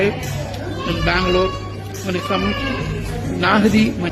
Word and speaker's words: Nahdi: When it comes Naahdi, I pronounce it right, Naahdi mandi.